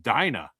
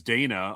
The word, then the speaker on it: Dina: Uh, except for the fact that apparently that is pronounced Dina, which I had no idea of. I always thought it was Dana, although there are others who thought it was Diana.